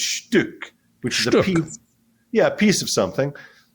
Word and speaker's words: Stück: It's actually Stück. In German, it's the U with an umlaut. It's Stück, which is a piece. Yeah, a piece of something. And then in Yiddish, it's pronounced Stück.